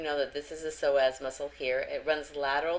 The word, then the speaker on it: psoas: this before again the soaz is spelled psoas here on the right but the P is silent and there is a